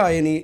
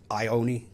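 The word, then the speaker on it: Ioane: Rico Ioni is a... Ioani, mate. Ioani. How do you say it? I think it's Ioani. Rico Ioani. Rico. I've been taken to task on that.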